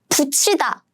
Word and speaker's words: 붙이다: So they should be combined as in 짠, 치. So let's pronounce this word together. 붙이다.